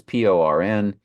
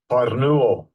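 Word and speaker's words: πορνεύω: It's Porneuo. Strong's G 4203. Porneuo. Porneuo. And you see the pronunciation PORN-YOO-O.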